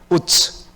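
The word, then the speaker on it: עוץ: 사는 사람이라고 이야기하고 있습니다 히브리 발음으로 정확하게 말하면 우스가 아니라입니다 우츠 여러분 우가 어까 라는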